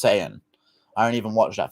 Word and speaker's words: Saiyan: It's Saiyan.